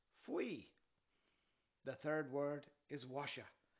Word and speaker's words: Faoi: The first word is Athbhliain, pronounced "ah" and "vleen" - "ah-vleen" The second word is Faoi, pronounced "fwee" The third word is